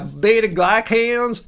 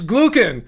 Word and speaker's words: glucan: Yeah, betaglyans. No, it's glucan. Bet glucen, not glycan.